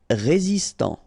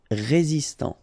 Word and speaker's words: résistant: Résistant. Final T not pronounced. Résistant.